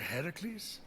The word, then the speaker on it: Hercules: doing there that thing with your voice a hercules yeah that that is how it's supposed to be pronounced seems like a lot of work but